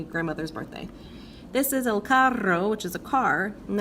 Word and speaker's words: carro: This is el carro, which is a car, and that's different than caro, which means expensive.